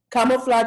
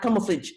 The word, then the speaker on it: camouflage: Camouflage is not camouflage, it's camouflage because it's the French pronunciation.